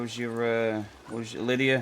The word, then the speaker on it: Lydia: It's Lydia.